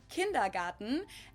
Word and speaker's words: kindergarten: and that is kindergarten in German we pronounce it kindergarten and it literally means